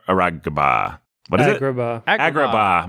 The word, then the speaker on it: Agrabah: How is it pronounced? Agrabah. Aragaba.